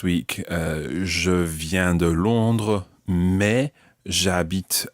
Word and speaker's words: mais: French-speaking world you are, but you may hear a slight difference between mes, as in mes enfants, and mais j'habite à Paris. So mais, but, and mes, my.